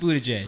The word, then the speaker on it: Buttigieg: Buttigieg. Okay. Yo, hold up. It's spelled like booty judge. So he's- butt gig. Booty Booty judge.